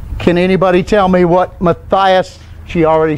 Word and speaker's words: Matthias: That's Matthias. Matthias, that was. Now, when you get to the Greek, here the I's are pronounced as I's, not E's like it is in Hebrew. Okay? So, Matthias.